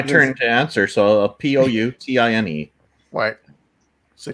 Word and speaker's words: poutine: you say it right yeah put in actually it's how it's pronounced okay all right can